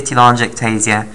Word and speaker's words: telangiectasia: walk productive on G act easier so ataxia telangiectasia mutated okay and the other one is called